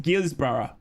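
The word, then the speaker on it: Guisborough: Okay, no, I'm from Australia, so it's pronounced Gisborough.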